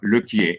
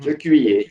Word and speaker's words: Lequier: It's spelled L-E-Q-U-E-I-E-R, Lequier in French. Lequier, yes.